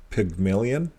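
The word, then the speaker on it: Pygmalion: didn't say that right here's how you say it pigmillion pigmon okay I I'll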